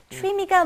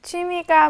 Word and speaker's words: 취미: 취미가 Almost want to think of it as saying, it's not exactly, but slightly, CHW.